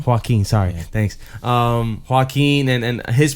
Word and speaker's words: Joaquin: Outside of Joaquin and how you pronounce his name? Joaquin.